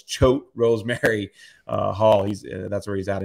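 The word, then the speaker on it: Choate Rosemary Hall: last time I remember I couldn't pronounce the school it's choke Rose Mary Hall he's that's where he's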